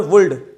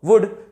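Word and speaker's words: would: यहां पर जो है एल जो है साइलेंट होता है। क्यों होता है उसके ऊपर हम इतना टेंशन नहीं ले रहे हैं क्योंकि एग्जाम पास में आ गई है। इसे हम पढ़ेंगे शुड और वुड।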